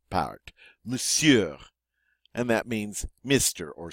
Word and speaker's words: monsieur: Thank You moose yeah Monsieur now this one's a little tricky cuz you see that Oh in there but it's silent we just say the seer powered Monsieur and that means mr.